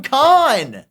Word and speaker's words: Kahn: Why do you say Sam Cohn? Because it's spelled Sam Kahn.